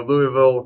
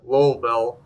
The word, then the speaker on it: Louisville: in uh you know louisville kentucky and i'm i know i pronounced that wrong so all of the my friends out there lowellville correct me yes and uh we're